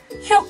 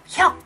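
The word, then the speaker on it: 혁: Suku kata ketiga yang sering salah diucapkan adalah Hyeuka. Pasti bacanya pada hyuk hyuk, bukan, yang benar bacanya adalah hyok hyok.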